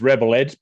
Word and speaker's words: ReBull Edge: Yeah, mate, it's Rebel Edge, pronounced Rebel Edge, even though it Rebel, reads yeah, as Rebel. But yeah, it's a play on words, mate.